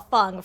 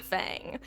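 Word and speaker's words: Feng: of them start to pronounce her name Fun as opposed to Fang.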